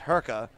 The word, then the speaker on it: Hurka: up top - hat I keep want to say Herrick but that's not the way you pronounce his name it's Hurka and hey check back